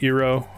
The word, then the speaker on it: gyro: to pronounce the food, I'm pretty sure it's euro, but like Gyros. I know it looks like gyros, but I know it. I've been told multiple times it's pronounced euro, or I know I pronounce it kind of funny. It almost sounds like I'm saying euro, like the dollar amount or whatever.